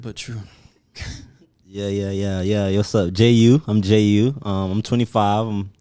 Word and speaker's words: JaiYeu: So how you spell it all one? JaiYeu.